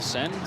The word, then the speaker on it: Seine: Is that how you pronounce it? The Seine? The Seine.